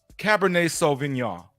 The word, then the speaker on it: cabernet sauvignon: for the drink segment what i'm drinking is cabernet sauvignon that's right i pronounced it correctly it's lions ridge this is